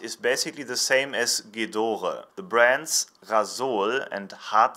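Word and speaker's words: Gedore: wrench saying what you would read maybe as j'adore orchid or is actually pronounced Ghidorah and it stands for blue that do V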